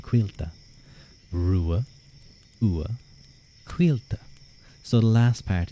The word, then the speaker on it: Ruadh: cuz you asked so nicely my name is pronounced Rua U quila Rua Quil so the last part is sort of